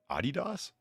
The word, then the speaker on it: Adidas: Adidas?